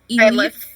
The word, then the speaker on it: Ylif: Ylif. E- Ylif. Ylif. Okay. Ylif. Ylif. Okay. Spicy. Like Eyeless with a lisp.